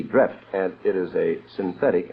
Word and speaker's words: Dreft: It's spelled D R E F T. Drift, and it is a synthetic, and it's not a soap.